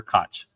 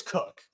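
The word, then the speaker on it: Koch: I is it cook or cotch? Oh, it's cook. It's spelled cotch, but I'm I'm sure it's cook.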